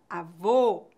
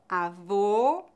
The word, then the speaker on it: avô: a boca avó bola quando pronunciamos o o fechado nossa boca fica mais fechada avô bolo Observe meus lábios o ó o ó avô avó avô avó eu já fiz